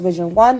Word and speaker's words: vision11: page on Instagram at vision11 events pronounced Vision one but again vision11 events